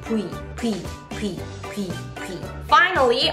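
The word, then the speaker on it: 뷔: It is easier to say V, but in Korean we don't have the sound V, so we say Bui, Bui, Bui, Bui, Bui.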